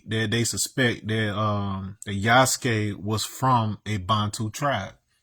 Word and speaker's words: Yasuke: But if you know anything about Yasuke, Y A S U K E, that's how that's supposed to pronounced. It's not Yasuke or none of that.